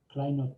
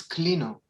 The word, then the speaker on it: Clino: His name is Kleino tool, if you are interested. Thank you. I think it's Clino. Clino, it's the name.